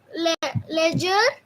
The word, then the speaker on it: ledger: Yes, ledger, ledger.